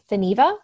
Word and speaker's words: Theneva: And for that, we have Saint Theneva. Did I say her name correctly? Perfect. Yes. It's like Geneva, but with a TH at the beginning.